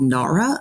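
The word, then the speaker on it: Gnara: but there's this company called Nara I think it's it's spelled GN A R A and they have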